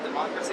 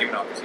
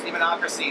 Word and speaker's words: Demonocracy: would you saying makes your latest album uh democracy is that you pronounce it demonocracy yes demonocracy stand out from your previous albums uh it's